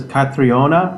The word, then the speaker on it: Catriona: Her name is Catriona Caterona. Is that right? How do you say her name? I think her family in Ireland says Catriona.